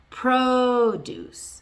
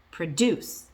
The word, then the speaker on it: produce: So following that pattern, if it's a noun, the stress is on the first syllable. Produce, produce. If it's a verb, produce, produce.